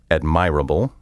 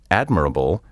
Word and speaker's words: admirable: the primary stress falls many mispronunciations occur because people put the accent on the wrong syllable as my mother was